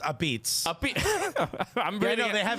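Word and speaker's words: apizza: It's pronounced a beats.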